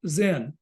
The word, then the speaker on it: Zen: So that ideogram was pronounced Zen. So Zen is just the Japanese pronunciation of Chan.